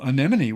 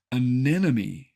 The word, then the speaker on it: anemone: how to say anemon think of it as any money but with the accent on the second syllable and you'll